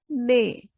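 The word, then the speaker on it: nez: When E and Z comes together, then E has sound A, nay, means nose, nay. As I told you, E has sound A, so nay.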